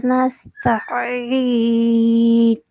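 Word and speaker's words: نستعين: வ இய்யாக நஸ்தஈன். திருப்பி போதுங்க. வ இய்யாக நஸ்தஈன். நஸ்தஈன். அதை பிரிக்க கூடாது. அதான் பிழை. ஆயின் உச்சரிக்கிறே சரி. நஸ்தஈன். ரெண்டு சேரணும்.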